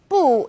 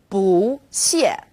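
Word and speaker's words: 不: a tone alert for boo when used on its own boo is fourth tone boo when bull is used before another fourth tone it becomes second tone bull or boo yo can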